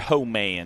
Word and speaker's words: Holman: Ho-Man. He said, just say it like ho, like howdy ho.